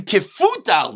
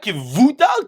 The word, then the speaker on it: Kifutal: Amr Rav Zcharia ben Kifutal, not Kivutal, Kifutal.